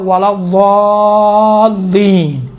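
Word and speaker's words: الضالين: الی النور، من الظلمات، یہ باقی دال کا ضاد کا تلفظ تھوڑا سا مشکل ہے انشاءاللہ تعالیٰ، یہ ضاد کا تھوڑا سا دقت کریں، ولا الضالین، دیکھیں ضا کہاں بعد ہے، ضا میں دیکھیں ولا الضالین کہیں گے تو کیا ہوتا ہے؟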